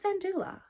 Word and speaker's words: Vendula: handbag from vendula and I always think I'm pronouncing their name wrong but it it is vendula um £180 and it's